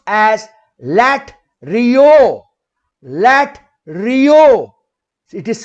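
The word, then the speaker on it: latreuo: Here the word worship in Greek is pronounced as LATERUO.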